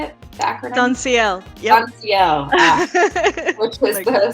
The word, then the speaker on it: SONSIL: SONSIL.